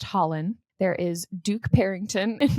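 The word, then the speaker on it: Hollin: And then we have Dorian Havilyard's brother is pronounced Holland.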